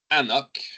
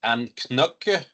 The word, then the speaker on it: anCnoc: Si vous regardez un peu comment ça s'écrit, là, ça s'écrit avec un C dans le milieu, hein, à ne pas prononcer les C comme ça. Et on le dit sur l'étiquette aussi, là, pronounce A-NOK. Ne pas prononcer Anknok.